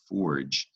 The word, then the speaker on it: forge: here with Ford and thanks to the French origin of forge you put a silent e after G it's going to guarantee a soft G sound so that sort of